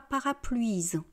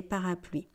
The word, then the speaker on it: parapluies: Et je ne dis pas parapluies, d'accord ? On sait que c'est du français, donc c'est différent. On dit parapluie, un parapluie, des parapluies.